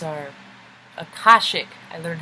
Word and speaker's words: Akashic: at incarnation it's our I so it's our Akashic I learned how to say it Akashic record so this is art our map is